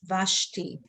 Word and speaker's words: Vashti: okay but over here in the middle of a word then the schwa is silent so over here it will be you know how we would read this question because then this will be silent vashti now do you know